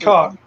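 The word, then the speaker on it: kok: And it is pronounced cock.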